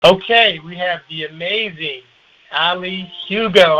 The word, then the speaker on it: Ali: So my name is properly pronounced as Ali Hugo. But I I I I don't take to heart if if people pronounce it as Ali or you know I'm I'm pretty open.